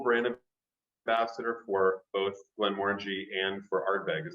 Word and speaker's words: Glenmorangie: of ambassador for both glenmorangie and for art bag is that correct that's correct yeah okay very good and and it is glenmorangie the only word that rhymes with orange correct it's absolutely true